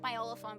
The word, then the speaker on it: Miolophone: You're supposed to say it like Myolophone, but nobody says it that way.